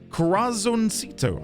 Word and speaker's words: Corazoncito: My newest Corazoncito. Hold on. Let's go and get some pronunciation.